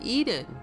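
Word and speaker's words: Ehden: For example, a town across from Hasrun is called Eden, E-H-D-E-N, which phonetically is the same as Eden, E-D-E-N, as in the Garden of Eden.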